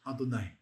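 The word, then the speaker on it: אֲדֹנָי: Adonai.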